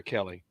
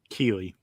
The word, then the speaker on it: Keeley: Is it Keeley or Kelly? Keeley. Keeley. I still didn't get it right.